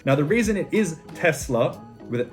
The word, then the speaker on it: Tesla: you pronounce renault renault next up we have tesla now tesla is another very controversially pronounced car brand to the point where elon